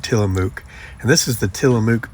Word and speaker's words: Tillamook: I kept pronouncing it wrong. And then I think I finally got it right, Tillamook.